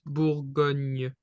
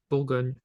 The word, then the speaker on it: Bourgogne: So it's almost an N. But if you would to kind of image it, image the pronunciation, so it's like a new. For example, here it's Bourgogne. Bourgogne.